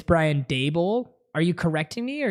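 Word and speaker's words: Brian Daboll: the playoffs you know foreign dabble right it's not how you say it how are you guys saying it it's Brian dabel are you correcting me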